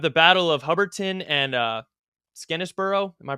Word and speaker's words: Skenesborough: And even though they were just absolutely brutally humiliated at Ticonderoga, you have the Battle of Hubbardton and Skenesborough. Am I pronouncing that correctly? Skenesboro, yeah. Skenesborough.